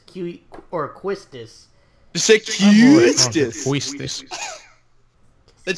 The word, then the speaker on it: Quistis: quest this again get supposed to be pronounced kisses but it's done with a cute you like kissed us QE or quistis sixth if we see